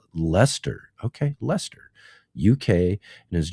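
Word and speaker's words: Leicester: Good day from Lancaster or or pronounced Lester.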